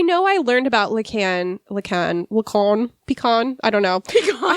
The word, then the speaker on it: Lacan: I know I learned about Lucan, “Lucahn”, “Lucawn”, pecan, I don’t know! Merri Pecan! Missy I learned about him- Merri Okay here- Missy -in English, but I don’t remember how to pronounce it. Merri “Lack-in” Missy No way!